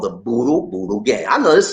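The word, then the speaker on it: budol-budol: It's called Boodle Boodle.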